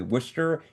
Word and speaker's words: Worcester: Another one in Massachusetts, Catherine with Worcester County Indivisible Alliance. That's how you pronounce that, right? Worcester, not Worcester. It's Worcester, Massachusetts. Correct me if I'm wrong.